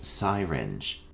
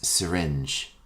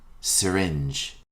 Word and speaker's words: syringe: for your meal our next term is commonly mispronounced as siren the correct pronunciation is syringe repeat after me syringe a syringe is a medical instrument used to